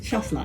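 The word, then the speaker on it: Chasselas: talking about is this particular bottle yes chasla that's how you pronounce it this bottle of wine is made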